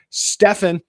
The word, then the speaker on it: Stefan: Actually, I've learned, I got to correct myself, Stefan is the pronunciation.